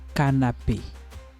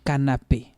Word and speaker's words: canapé: Le canapé. You see, the accent is here. Le canapé. If not, to be le canap. Poison.